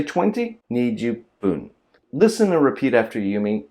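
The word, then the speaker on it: 十分: ju and fun becomes pun, jupun. And with a small tsu put in between, it becomes jupun. Now sometimes you actually hear this pronounced as jipun, with like a G sound.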